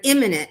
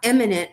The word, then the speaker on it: imminent: Self-defense requires that you sincerely and reasonably believe that you are an imminent, not eminent, as he said.